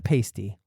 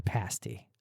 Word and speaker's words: pasty: The Culinary scene is the Pasty not the Pasty the Pasty I made sure I pronounced that correctly so none of the michiganders jump down my throat the Pasty is essentially